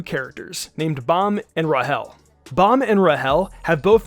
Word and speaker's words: Rachel: Also, a small disclaimer before we begin, I pronounce Rachel's name as Rahel, the same exact way Bomb does in the anime.